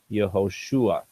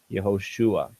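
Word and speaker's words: יהושע: him and now he's here's his new name yosua yosua and the stress is on the shoe here so you can see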